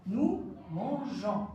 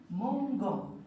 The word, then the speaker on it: mangeons: s il mange eu nous mangeons alors ici il y a une petite exception on va rajouter un E pour ne pas prononcer le verbe nous mangons donc on va